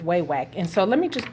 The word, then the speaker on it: Wawak: over way way and I understand this pronounced wild wacked or something to that nature but you know what it don't flow off my tongue like that so we are going with way wack and so let me